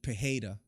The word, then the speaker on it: Pereira: Jean waili and then out of Sonya versus Pereira and this out of Sanya versus prayer fight which we haven't talked about or it should be pronounced pajeda but I just call him Pereira I don't